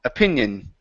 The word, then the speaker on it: opinion: opinion okay instead of a Aion okay opinion opinion opinion good so uh not to form an